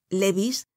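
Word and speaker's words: Lévis: se llamaban matán Noé Levis que se pronunciaba Levi y cambies que se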